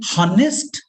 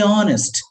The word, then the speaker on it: honest: h do we say honest do you pronounce it like that no sir we say honest so h remains silent so you make it